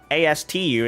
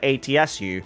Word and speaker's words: Atsu: a white name is people in the uk and typically many white people can't pronounce the name atsu and they always say ass to astu instead of atsu so i just tell